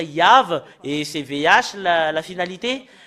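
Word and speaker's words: יהוה: Le fait d'expliquer que dans la Sainte Écriture, que nous voyons que c'est faux le terme Yahvé, parce que c'est pas dans la prononciation. Et normalement, ça doit être Yav, et c'est VH la finalité.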